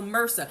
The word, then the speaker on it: Mehrsa: So MRSA.